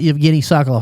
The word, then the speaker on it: Yevgeny Sokolov: And Yevgeny, tell the listeners a little bit about Yevgeny Sokolov. Am I pronouncing that correctly?